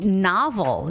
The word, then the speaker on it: novel: clear sound for o and let's see oh novel yes novel too novel novel okay so when